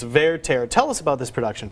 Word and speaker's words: Werther: lack of opera knowledge when i pronounce it werther like werther's original which is not correct it's verteira tell us about this